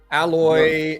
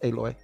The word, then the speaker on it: Aloy: to fake ass Avatar alloy is that how you say your name alloy alloy yeah alloy aloy aloy I think is how they say it isn't it alloy aloy no just aloy they say it super